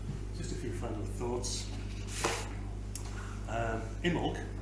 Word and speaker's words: Imbolc: Imbolc, not Imbolc, as I've been pronouncing it, and all the